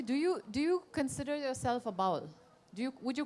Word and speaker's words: Baul: First of all, a slight correction: the word Baul, how it's spelled, it's like ba in sheep, ba black sheep, and the wool in the sheep. So you add that Baul. That's the Baul. It's not Baul.